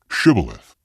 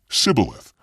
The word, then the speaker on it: shibboleth: i'm not they would tell him to say shibboleth if he was from ephraim he would say sybileth because people from ephraim cannot pronounce the word correctly then they would take